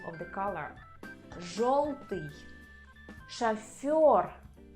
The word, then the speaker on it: жёлтый: But there are letters in Russian language which always under stress, and this is letter yo. So if you see this letter, you can be sure that the stress is on this letter.